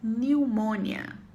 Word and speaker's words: pneumonia: ó quer pegadinha pneumonia em inglês você não vai pronunciar o p e aí a pronúncia fica new mónia tão pneumonia se escreve